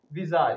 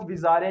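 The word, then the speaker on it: bizarre: Next जो word है वो है विजार। इसकी जो प्रोनाउंसिएशन है वो विजारे नहीं है, विजार है, विजार।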